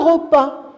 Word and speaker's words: repas: y mange un repas le repas oui j'ai pas prononcé s à la fin vous êtes des champions